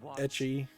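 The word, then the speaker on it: エッチ: the uh ends because H sounds like etchy when pronounced in Japanese so I wouldn't be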